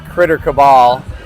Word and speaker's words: Critter Cabal: Well, I pronounce it Critter Cabal.